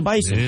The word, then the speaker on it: Bison: interet it is the Bison yeah bison bis is the way they pronounce it they're picky about how they pronounce that yeah it's like a z even though spelled with an S but whatever North Dakota